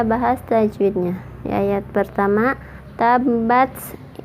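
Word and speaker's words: تبّت: Di ayat pertama, tabbat, di atas ba ada tasydid, berarti bacanya ditekan.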